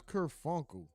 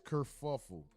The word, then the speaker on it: kerfuffle: If he said, I thought it was kerfunkle. I don't even like saying that. Sounds stupid. Let's just see. I don't even know how to spell that. That's not a. Let's see. Let me just. Oh, it is kerfuffle.